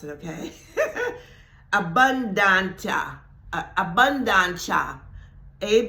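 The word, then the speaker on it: abundantia: to pronounce it okay abundant abundant a b u n d a n t i a but it's a Latin word and I think it's pronounced abunda okay that word abundance and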